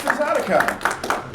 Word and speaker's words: Furpocolypse: Now that I know how to say it, it's Furpocolypse.